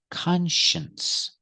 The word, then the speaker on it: conscience: this word is conscience let's look at the pronunciation because it is different the first symbol is KH and the second symbol is shin shins use the sh sh sound like Shu sh sh and a close sound sh plus the n